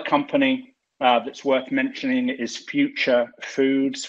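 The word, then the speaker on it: Phuture: Another company that's worth mentioning is Future Foods, which is spelled P-H-U-T-U-R-E.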